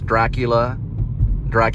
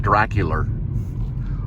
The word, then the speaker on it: Dracula: So he doesn't pronounce Dracula, he pronounces it Dracular.